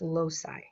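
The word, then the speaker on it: loci: 13 DNA regions or locai and create a DNA profile for that individual a DNA fingerprint by the way locai can also be pronounced loai there is a very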